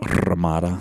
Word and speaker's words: Ramada: bed at Chateau Ramada I feel you need to roll your R it's about Ramada yeah not bad I'm